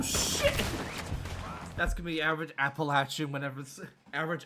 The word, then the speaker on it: Appalachia: That's gonna be average Appalachian average Appalachian when someone mispronounces it. Yeah, I've seen, like, people have bumper stickers on their cars that have, like, the correct pronunciation of, like, it's Appalachia, not Appalachia.